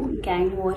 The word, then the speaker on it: Gangwar: अभी उनके नाम का जो spelling है वो गैंगवॉर ही है, तो let's pronounce it that way।